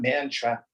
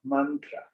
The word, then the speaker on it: mantra: Now, what tends to get confusing for Westerners, the short A is pronounced like the U in but. So it's not Sanskrit, it's Sanskrit. It's not mantra, it's mantra. So as we go through